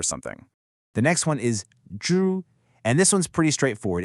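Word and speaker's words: 株: The next one is zhu, and this one's pretty straightforward.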